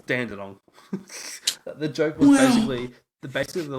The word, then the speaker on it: Dandenong: You want to say Launceston, but it's Launceston, and you want to say Dandenong, but it's piss off. Who testing them? But it's piss off. Because it's Dandenong.